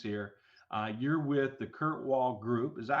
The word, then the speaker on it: Kirkwall: bit of guidance here uh you're with the Kurt Wall Group is that how you pronounce that right yes sir okay Kurt Kurt Kurt Wall Group and uh I want to know from